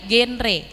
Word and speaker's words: genre: Pelafalannya G ya teman-teman ya, genre.